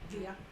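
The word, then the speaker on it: Villa: chasing after Poncho V I say it right via okay um he had a Dodge touring vehicle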